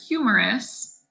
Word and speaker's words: humerus: your funny bone and the word humerus sounds like humorous like funny that's so humorous so